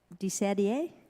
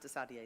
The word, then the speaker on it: Desider: lakimba i want to de sadie that's a deer said a deer it's pronounced to saudi though you are correct good